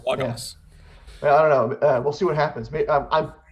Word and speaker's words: Logos: Is it Logos? It's Logos. Let's throw that out there before the callers call in, even though there's no callers today. Yeah, It's yeah. Logos.